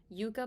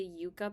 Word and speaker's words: Yucca: with the Natasha denona Yucca palette I've been saying it wrong it's the Yucca palette not the Yucca palette so it's like when you say Yucca you're like oh yucky palette you know so I'm